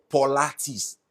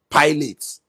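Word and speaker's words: Pilates: you she got it there's no you there there is no o there so where did you come with that pronunciation it's called po po potis I said what do you mean potis it's spelled p i l a t e s but you know as an African man that I am I said pilotes oh God they [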